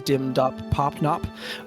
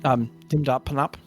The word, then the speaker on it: Dimdop Popnop: would be aware that the Pixie Sylvan pronunciation is not like dim dop pop nop, like your friend going, I'm going to Puerto Rico, but instead like the pronunciation's more like dim dop panop.